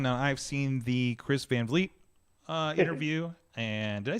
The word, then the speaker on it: Van Vleet: I've seen the Chris Van Vleet uh interview and did I say his name right? I never like hear it. So is Vonal. Von Valle.